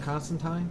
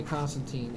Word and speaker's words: Constantine: John Constantine? Constantine. No, Tyne. That's how the Brits say it.